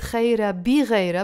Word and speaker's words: خيرة بغيرة: كسرة under the ب You can pronounce it خيرة بغيرة, but I pronounce it faster.